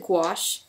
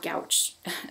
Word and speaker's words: gouache: remember to pronounce it gouache g w o s h basically uh despite the odd spelling um it's not gouch so this was first